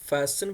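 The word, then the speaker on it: fasten: बराई मेहरबानी फास्ट इसको हम फैशन बोलेंगे एफ ए एस T silent रह जाएगा ई एन बोलेंगे फैशन फैशन ठीक है योर अपनी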